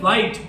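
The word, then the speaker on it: white: इसमें उच्चारित करते हैं जब इसको तो क्या कहते हैं, वाइट। एस साइलेंट है, WIT का उच्चारण करते हैं। एच वहाँ साइलेंट।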